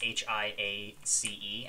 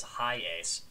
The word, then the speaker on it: Hiace: And you think, clearly that says high ace. Nuh-uh. It doesn't say high ace. It's Hiace, which is, it's how you're supposed to pronounce that. Because in Japanese, because of the way that the language works.